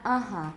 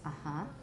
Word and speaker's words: uh-huh: They should have put the stress mark on the second syllable, not the first. It's not uh-huh, it's uh-huh. Uh-huh. And it's also probably nasalized. Uh-huh.